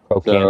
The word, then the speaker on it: trochanter: Trochanter. So, trochanter, yeah. But it's trochanter. It's the way it's spelled, yeah.